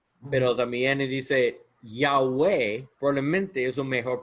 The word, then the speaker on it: Yahweh: Siempre la H es el fin de un sílabo. Ah, y suena aj. Sí, en lugar de Yahová, en lugar de ese es Yahweh.